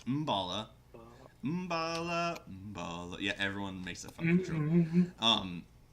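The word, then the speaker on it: Mbala: a spark spot marked on your map called mavala and it's pronounced in balla I keep calling wrong it's Bala yeah everyone makes it you know a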